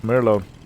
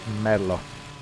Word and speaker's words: Melo: mlo King and yeah I am saying mlo not Merlo uh because I have spoken to one of my Italian friends and I have asked about the pronunciation of that name and it's mlo right let me take all